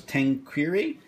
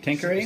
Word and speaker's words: Tanqueray: yes I said this that and I can't pronounce this tank query thing right thank you Ray Tanqueray sit real buttery business yeah take hurry yeah